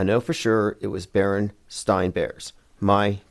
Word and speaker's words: Berenstain: I knew how to pronounce stain. So if it was spelled A-I-N, I would have known. Berenstain. The E-I-N threw me off because that's how it's not pronounced.